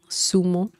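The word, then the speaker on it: zumo: America and uh just give that in mind Sumo Sumo or tho the right pronunciation with this Spaniard accent um but um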